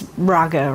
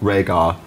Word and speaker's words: Rhaegar: Yeah, who she pronounces Rhaegar or something. Rhaegar, yeah.